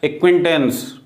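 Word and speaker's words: acquaintance: silent है, एस के बाद सी आया, सी साइलेंट है, क्यू के पहले भी यदि सी आए, एक्विंटेंस, ठीक है, एक्विट, ए सी क्यू यू आई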